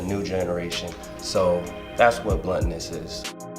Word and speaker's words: Blunttonous: it correctly okay let's first start with its bluntness almost like blood on us and definition for bluntness